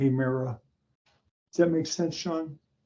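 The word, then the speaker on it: ἡμέρα: The Eta, Mera, Hemera, not a long A sound, but Hemera.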